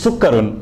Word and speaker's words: سكر: Almost correct. It's sukkarun.